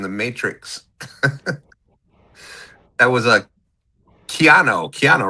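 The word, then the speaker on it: Keanu: That was a Keano.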